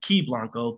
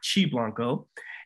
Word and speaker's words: Qi Blanco: of a company called chi blanco i i pronounced it key blanco but we'll call it chi blanco and he's a mechanical engineer a natural biohacker